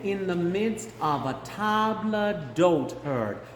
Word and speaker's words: table d'hôte: Men in the midst of a table d'hôte herd. Table, so it's going to be very French. Table d'hôte. Okay? The H is not pronounced, and it's like table, like we would say en français.